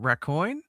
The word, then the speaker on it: Raccoin: I used the newest one called Rcoin, spelled like raccoon, but raccoin.